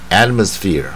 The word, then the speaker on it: atmosphere: 是母音，但是 R 呢就卷一半啊，所以这个是 atmosphere 啊，所以后面轻轻带一下就可以，它不是